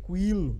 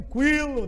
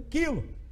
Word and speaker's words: quilo: pessoa em sã consciência vai dizer cuilo né não comprar um coelho de mortadela nep macaca vai falar o de mortadela a estraga tudo menos de vez né não vai ter um quilo de mortadela mas é um quilo então aquele que o